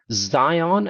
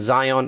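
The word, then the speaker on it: Zeihan: a really understands geopolitics his name is Peter Zion and Zion is spelled as z-e-i-h-a-n so that's Peter Zion I highly recommend that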